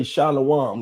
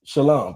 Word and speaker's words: shalom: And also, we don't say shalawam. That's actually the verb. The actual peace is shalom, brother. That's how you say it in Hebrew.